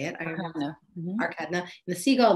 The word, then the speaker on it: Arkadina: Arkadina.